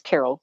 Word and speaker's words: Carole: connect with me on LinkedIn my name is Carol but it's spelled with an e on the end so